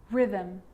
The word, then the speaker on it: rhythm: And sometimes the H is not pronounced when it follows any of these three letters, C, G, or R.